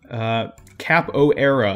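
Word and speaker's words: Capoeira: Cap O'Era, as many of you told me how it's pronounced.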